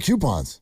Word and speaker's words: coupon: just like I mean the spelling of some word it should be coupon the first two letters are co where do you get Q out of that I don't know